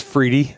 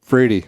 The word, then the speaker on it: Friede: It's Friede. Friede is the way you pronounce it. Yep. Friede.